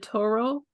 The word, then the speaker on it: tarot: I call it tarot. I guess there's different ways of pronouncing it. Do you call it Toro? Tarot, yeah, and Oh, there's really no difference. It's okay. either it's tomato tomato.